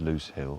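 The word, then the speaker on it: Lose Hill: It's spelled L O S E. LSE L. It's pronounced Loose Hill.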